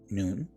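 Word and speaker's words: nun: then in the noon sometimes you might hear it said none but it's actually pronounced noon which is the seed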